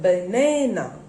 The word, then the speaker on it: banana: Next, another word, we have already done that, banana. Na. This middle na has got the stress here. And there are 3 syllables.